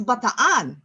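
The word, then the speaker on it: Bataan: how you say baton that explains the two A's in Baton uh you say it correctly there's a you know kind of another syllable there um you know who taught me that uh that pronunciation who was an American really who was in ban don't you know what it's batan it's land of the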